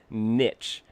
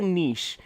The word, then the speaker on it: niche: And part of my reason was I was so tired of people pronouncing it niche. It's right. It's like, oh, you you're in a particular niche. And I'm like, it's a niche, right?